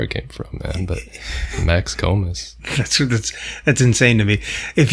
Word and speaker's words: Max Komes: So Max Komes.